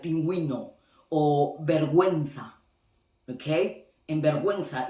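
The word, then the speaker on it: pingüino: Now, I know that in some cases you still pronounce the U when it's these two letters together, like in the case of, for example, pinguino. Okay, it's not pinguino, it's pinguino, because, and you're gonna see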